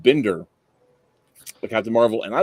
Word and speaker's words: Binder: Captain Marvel 2 and the way he said it I was like it's a German name I bet it is Bender so I'm like so